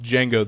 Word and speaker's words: Django: The post says, if anyone is missing a cat named Django, pronounced Django, the D is silent, I stole him last night, not on purpose.